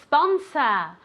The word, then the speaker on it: sponsor: say this very good sponsor sponsa never ever ever a sponsor okay I don't want to hear that e it's like a snake sponsor very very good okay